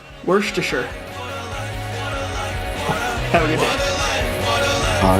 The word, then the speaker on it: Worcestershire: Always remember, it's pronounced Worcestershire.